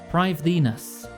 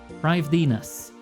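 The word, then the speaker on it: Prifddinas: How is it pronounced? Privthenus. Privthenus.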